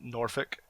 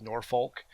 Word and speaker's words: Norfolk: place called if you're from there it's called Norfolk and it's it pronounced if you read it it looks like it says nor Foulke yeah we have enough focus also don't work